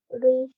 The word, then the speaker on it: ऋ: ऋषि नहीं है। ऋ से ऋषि होता है।